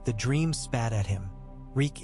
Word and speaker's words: Reek: Reek, it rhymes with freak.